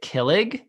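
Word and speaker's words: kilig: spell it it's k-i-l-i-g i would pronounce it killig close yeah it's killig okay leg so emphasis yeah second part okay what does that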